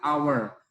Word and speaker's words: hour: Walaupun diawali huruf H, tapi bacanya adalah hour, an hour.